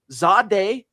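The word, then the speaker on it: Zaire: Zadeh, believe it or not, that's how you're supposed to say what it reads phonetically, Zadeh Barron, but it's Zadeh Barron.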